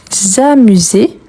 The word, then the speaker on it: amuse: Oui, le S entre voyelles, il a les sons de Z.